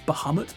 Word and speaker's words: Bahamut: one badass looking bahumit i'm not sure if i'm saying that right i think it's bahamut but i always say bahumit ever since i was a kid so man look at